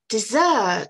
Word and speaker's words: dessert: Dans ce mot-là, la première syllabe est toute petite par rapport à la deuxième.